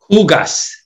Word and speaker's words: hugas: Huegas. Is that how you say that? What, how do you say the H again? Hugas.